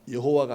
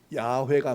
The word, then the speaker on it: 야훼: 그때 학사들이 연구해 보니까 여호와가 아니고 발음이 야훼가 맞다고 하는 거예요.